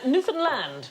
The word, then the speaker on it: Newfoundland: Newland hey hey enough violence on this show Newland is the correct pronunciation and in 1876 a man was killed